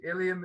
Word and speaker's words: Ilium: i pronouncing the uh title correctly you are pronouncing the title correctly ilium is the greek name for troy what we call troy the greeks called ilium and um hence the iliad but um the